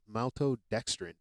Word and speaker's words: maltodextrin: crash W contains no mouth maltode to toxin maltodextrin that's how it's pronounced sorry sugars fillers artificial colors or dyes